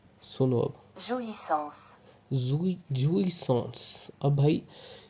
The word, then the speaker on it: jouissance: उसका नाम था, सुनो अब, jouissance। अब भाई ये प्रोनाउंस मेरे को करने इसलिए नहीं आता क्योंकि